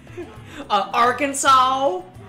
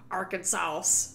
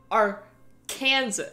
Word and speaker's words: Arkansas: pronunciation or scottish english arkansas oh oh i wonder what that would taste like probably like cigarettes and motor oil boner oh hello yes it's not our kansa it's our kansas not our i'm